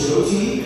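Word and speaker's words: Jyoti: My middle name was Joti. It's spelled J Y O T I. And it's one of those annoying foreign names that's not pronounced the way it's spelled.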